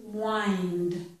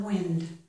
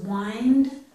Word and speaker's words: wind: also a couple other comments we do not pronounce the h in these words and this word is wind it's not wind okay they're spelled the same this is wind which means something like to turn okay that's